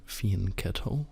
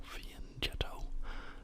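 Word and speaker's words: fianchetto: I play G6 this opts for a soall faneto or Fen jetto depending on how you like to pronounce it I guess actually depending on how good your Italian is um so I'd like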